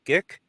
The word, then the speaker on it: JIC: So the JIC, is it pronounced JIC? GIC? JICE?